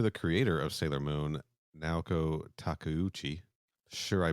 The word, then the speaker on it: Naoko Takeuchi: Shout out to the creator of Sailor Moon, Naoko Takeuchi. Sure, I butchered that name. Sarah, can I get a pronunciation on that, Sarah? Naoko Takeuchi.